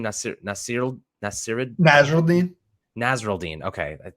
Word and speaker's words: Nasirildeen: Nasirildeen.